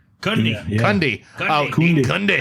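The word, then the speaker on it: Cundey: Dundee? Cundy.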